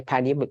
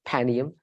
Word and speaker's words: Panium: RAF pum or P I say panium I agree with you proper way to say it panium um so Rafia and